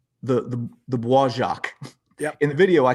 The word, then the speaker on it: Bois Jacques: the I got to say this right, the Bois Jacques. Yep. In the video, I called it the Beau Jacques because I'm a Midwestern redneck, and I've had the Americans said who there said it.